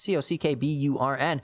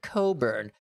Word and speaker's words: Cockburn: This guy says, we have a street spelt Cockburn. That's C-O-C-K-B-U-R-N. But everyone pronounces it Coburn. Stop living this lie and pronounce it Cockburn. That's what they say. Stop living a lie. It is not Coburn.